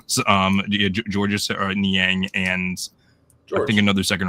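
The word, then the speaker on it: Georges Niang: Dos Borzingis for um Gorgeous I keep on saying his name wrong. Um someone on TikTok made fun of me for for saying gorgeous. Um what was his name was? Um George Niang and I think another second round pick.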